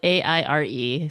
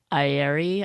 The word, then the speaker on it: Aire: It's it's spelled Aire, so, which I always pronounce as air in my head, but it's Aire.